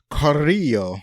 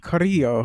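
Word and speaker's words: Carrillo: full on Spanish so it's got the two RS that you have to roll and then the two L's which is pronounced like a y so that's super hard so Coro Coro okay uh she played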